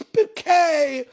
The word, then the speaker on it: Bucket: Bouquet, "It's Bouquet!" And you wonder, you think, it's quite interesting, isn't it? Why did she want the name Bucket pronounced Bouquet? The reason is because it sounds more French.